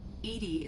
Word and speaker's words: EDI: why are you named edie edie is the phonetic pronunciation of edi that is an acronym for enhanced defense intelligence that's all for now